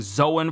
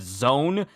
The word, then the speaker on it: Zoan: Zoan, for example, Tekking and a few other almost always pronounce it as zone. It's not zone as if you're spelling it like the name Joan. It's Zoan. Zoan.